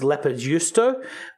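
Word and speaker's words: leipäjuusto: It's actually a Finnish squeaky cheese, which is pronounced leppöjuusto, but basically what the Swedish decided, this cheese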